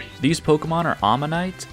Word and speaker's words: Omanyte: These Pokémon are Omanyte and Omastar. But I've always called them Omanite and Omastar, which is only slightly different, but still incorrect, I suppose.